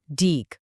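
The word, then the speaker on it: deque: पर, जिसका नाम है डीक। आप इसे क्यू का एक एडवांस्ड या ज्यादा पावरफुल वर्जन समझ सकते हो। डे क्यू, जिसको हम डेक की तरह प्रोनाउंस करते हैं, इसका पूरा नाम है डबल एंडेड क्यू।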